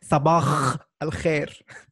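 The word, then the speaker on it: صباح الخير: So when you say sabah al khair, it's really hard for my friends to sabah al khair. Exactly. English speakers have a tendency to pronounce it as a kh.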